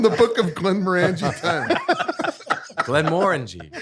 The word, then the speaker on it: Glenmorangie: Glenmorangie. Glenmorangie. Is that how you pronounce it?